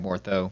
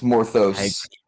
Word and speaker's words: Morthos: That's your name, right, Mortho? I said it right this time. The S. It's Morthos. Morthos. Oh, it's almost like a plural word.